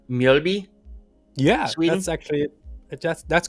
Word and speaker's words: Mjölby: And I hope I pronounce this right. It's Mjölby?